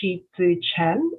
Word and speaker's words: Shieh Chi Chen: So it's actually pronounced Shieh-Chi Chen, and phonetically it's spelled Sheetzu, and the last name, of course, is Chen.